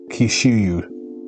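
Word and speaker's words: Kyushu: where hishimoto graduated from University and I'll probably pronounced that robot it's k-y-u s h u kishu so yeah that's just so that's where kishimo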